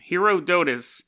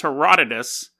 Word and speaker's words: Herodotus: of people were like that's not how you pronounce his name hero dois his name is Herodotus but so but to